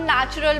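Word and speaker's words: natural: लेकिन हम इसको एन ए सी एच आर ए L pronounce करते हैं।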